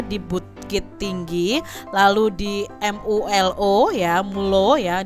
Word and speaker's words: MULO: Jenjang pendidikannya itu di ELS juga di Bukit Tinggi, lalu di MULO ya, MULO ya. Ini cara membacanya nih pakai bahasa Belanda ya adik-adik ya, di Padang dan Hendels Middelsbeer School di Jakarta.